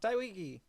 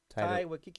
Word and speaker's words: Taika Waititi: Taiki. Taika Waititi. Taika Waititi. Taika Waititi. Yeah, that guy. Still said it wrong, but okay.